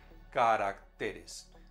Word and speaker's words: caracteres: que tener en cuenta el plural de carácter es caracteres cambia su acento en plural pronunció varios nos apenas